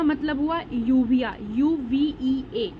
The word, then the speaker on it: uvea: कहता है कि पहले ये देख लेते हैं, आईटिस का मतलब इन्फ्लामेशन, ठीक है, और यहाँ पे यूवी का मतलब हुआ यूविया, UVEA, यूविया, ठीक है।